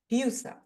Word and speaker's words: Husa: name because I realized to me I would pronounce it husa but I'm sure in America you pronounce it differently I don't know if you know but your last name is actually Czech word that means Goose yeah we've talked about that before I thought that was hilarious so so how do you pronounce it here H husa husa okay so hug H yeah